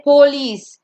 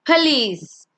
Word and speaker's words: police: We don't say police, it's police.